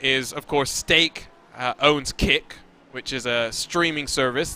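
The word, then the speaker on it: Kik: Kick is such a bad name for that streaming service because there's already a Skype clone called Kick that's spelled K-I-K that's used by like 13-year-old kids.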